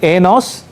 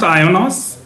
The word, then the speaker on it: IONOS: NOS? No, so it's pronounced IONOS. IONOS, okay. My apologies. IONOS it is.